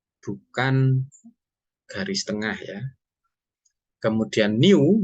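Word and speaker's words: ν: garis tengah ya kemudian new dibacanya new itu adalah viskositas kinematik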